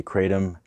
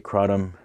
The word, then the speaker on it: kratom: Kratom is pronounced in different ways. I say Kratom, some people say Kratom, some people say Kratom, but it's really known as Mitragyna speciosa in its native countries.